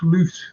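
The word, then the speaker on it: Slot: can't write off slute it's slute that's how you pronounce until he's had until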